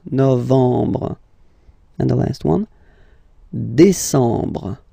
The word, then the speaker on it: décembre: Décembre, décembre, décembre. Same thing, E-M en, décembre. Okay, so let's repeat them. Juillet, remember this, yeah, yeah, yeah. Juillet. Août, first option. Août, second option. Septembre, octobre, novembre, décembre.